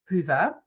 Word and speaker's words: Hyvä: pronunciations that I uh here um it's actually pronounced as Hua uh which is a Finnish word and it